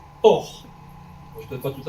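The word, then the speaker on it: אור: voin et euh euh le mot lumière en hébreu Hébreux biblique hein s'écrit Alf vave rche et ce mot se prononce or je peutêre pas tout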